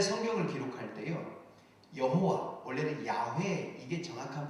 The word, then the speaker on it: 야훼: 여러분, 옛날에 성경을 기록할 때요, 여호와, 원래는 야훼, 이게 정확한 발음이에요.